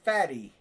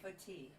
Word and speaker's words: Fati: Anso fatty. I don't think that's how it's pronounced. It's I'm sure it's fat. Ansu fat. Fati.